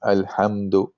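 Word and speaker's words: الحمد: So you have to pronounce the meme alhamdu. Okay, you have to pronounce it clearly. So it's just a normal pronunciation of the meme, no special gunna or merging of anything or hiding of anything.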